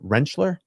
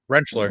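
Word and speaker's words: Rentschler: play through this Dr I think I'm saying it right wrencher wrencher yep just like a tool Wren yep God it looks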